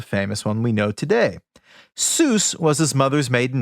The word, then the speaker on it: Seuss: If you're calling him Seuss, he pronounces it Seuss. And I guess he reportedly switched. Did you know this? No, I have no idea. I did not know this. He reportedly switched to the anglicized pronunciation, Seuss, because it, quote, evoked a figure advantageous for an author of children's books to be associated with, Mother Goose.